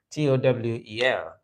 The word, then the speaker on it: towel: For it is correctly pronounced towel, not towel. It is not towel or towel, but towel. So towel, as in towel, tower, towel. Excuse me.